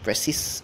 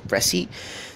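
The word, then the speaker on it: précis: Okay, this is not pronounced just as precis. It's a pressy and uh in this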